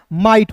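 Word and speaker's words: might: उसी प्रकार एम का दोस्तों म होता है और आई जी एच टी उच्चारण आई के रूप में करेंगे दोस्तों क्या हो जाएगा माइट हो जाएगा एम आई जी एच टी को क्या पढ़ेंगे दोस्तों माइट पढ़ेंगे क्लियर है फिर देखिए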